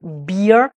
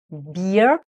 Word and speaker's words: beer: en termes d'orthographe, c'est le mot beer avec double E, c'est la bière. Et là, avec un double E, on fait un I long, beer.